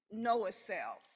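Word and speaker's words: NOAACF: And the acronym, just in case you're interested, is pronounced Know Self. Like know yourself, know a self.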